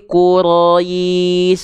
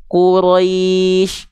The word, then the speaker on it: Quraisy: lembut contoh nya gimana Jangan dibaca gini lii Quis Quis tapi Qurais Rais Rais lembutkan lii Qurais Jadi bukan liili Qurais tapi Qurais ya gitu Ini dasarnya Lin teman-teman